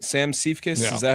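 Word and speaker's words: Siefkes: Sam Seifkis, Yeah.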